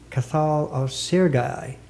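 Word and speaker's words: Cathal Ó Searcaigh: brought out a translation of the Irish poet kathal of sergai did I pronounce that right yeah pronunciation correct yeah I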